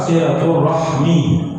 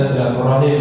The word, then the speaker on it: silaturahmi: Beda pengucapan dua-duanya boleh ya kalau ee dalam pengucapan yang paling masyhur dalam bahasa Arab silaturahmi ya. Silaturahmi ini ya pengucapan yang paling masyhur ya. Kalau silaturrahimi ya itu jarang dipakai. Tapi dalam pengucapan kita bahasa Indonesia itu memang ya ada ee silaturahmi, ada silaturahim ya. Nah, ini yang ee mungkin ee seakan berbeda padahal kenyataannya sama ya sama cuman beda mengucapkan saja.